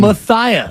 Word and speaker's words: Matias: Clara as well okay now Matthias were being told is the exact pronunciation Matthias uh sensation and also one